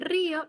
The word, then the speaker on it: río: Sin embargo, en río no fluye. La I se pronuncia separada de la O.